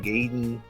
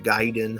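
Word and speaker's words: Gaiden: uh n the ninja gayen ninja giden however you want to pronounce it we called it gayen back then we didn't know giden or Side Story or whatever it was gayen to us um I think ninja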